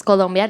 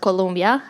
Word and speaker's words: Colombia: from out of Colombia so it's column yet not Colombia as the university is